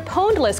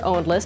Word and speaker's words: Pwnedlist: That's where Pwnedless comes in, or Ownedless, depending on your preferred pronunciation.